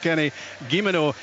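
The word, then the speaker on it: Guillemenot: of letters in that one I'm reliably informed Kenny gimino is the the pronunciation he's alongside Chris Bia those the strikers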